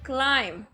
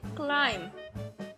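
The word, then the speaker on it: climb: क्लाइम, ऊपर चढ़ना। यहाँ पर भी बी साइलेंट है, हम पढ़ेंगे क्लाइम, ऊपर चढ़ना।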